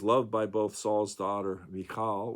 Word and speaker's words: Michal: And she goes on, though David became Saul's son-in-law and was loved by both Saul's daughter Michal, or some pronounce it Michael, and his son Jonathan,